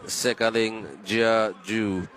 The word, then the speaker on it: Sikailin Jiaju: the team in the white tops is team Sikailin Jiaju. Bit of a mouthful, but that is the way you pronounce it.